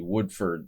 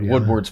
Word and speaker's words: Woodward: It starts to look a lot like Admiral Stan Sandy Woodford Wood I always mispronounced his name Woodward Woodward's battle at the Faullands where he kept his